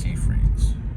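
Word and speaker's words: Seyfried: It's pronounced Siegfried's.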